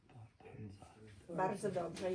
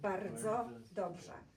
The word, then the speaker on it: bardzo dobrze: Bardzo dobrze is very good. Bardzo dobrze. Try to roll your R when you pronounce that.